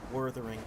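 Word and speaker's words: Wuthering: Yes, it's Jeff here, so we got to pronounce it how he pronounces it. Worthering.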